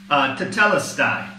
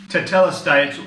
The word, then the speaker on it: tetelestai: 30, "it is finished" is all one word, tetelestai. Now, obviously, I'm probably not saying it correctly for those of you Greek speakers here in Cyprus, okay? But this is the ancient Greek, okay, the biblical Greek, tetelestai.